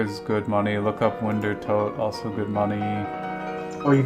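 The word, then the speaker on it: Wintertodt: It's pronounced Toad. It's not pronounced Todd. It's Toad. Is it pronounced Tot? Winter Tot? No, it's pronounced Winter Toad.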